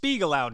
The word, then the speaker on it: Spiegelau: It's pronounced Spiegelau, damn it, and it took you 5 minutes to look it up on the internet.